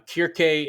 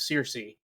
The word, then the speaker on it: Kirke: Now, Kirke is just the more Greek pronunciation of Circe.